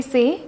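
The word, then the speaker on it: soar: याद रखिएगा कि इसमें आर साइलेंट होगा, सौ, सॉ, प्रोनाउंसिएशन इज सॉ।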